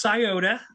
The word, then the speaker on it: Scioto: and it's pronounced Scioto, I believe, in Columbus, Ohio.